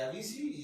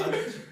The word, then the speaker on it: Avicii: sabíamos la historia de la princesa Diana, de Avicii y de este güey. A mí sí. ¿Cómo se dice? Es que no sé. Avicii.